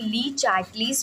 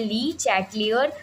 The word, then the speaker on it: Le Chatelier: है, जिसमें हम लोग ली चार्टलीस प्रिंसिपल के बारे में बात करेंगे, जिसे बहुत लोग अलग तरीके से प्रोनाउंसिएशन भी कहते हैं, ली चैटलियर प्रिंसिपल। आप जैसे बोलना चाहें बोल सकते हैं, लेकिन मैं इतना ऐसे ही बोलूँगी।